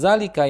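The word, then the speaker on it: ذلك: Dan itu adalah susu sebagai catatan dalam pengucapan lafaz dalika yaitu pada huruf dza dibaca panjang sebanyak dua harakat walaupun dalam penulisan lafaznya tidak terdapat huruf alif setelahnya yang seperti kita ketahui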